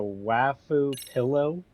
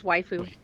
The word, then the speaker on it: waifu: Wau pillow. Really? It's waifu.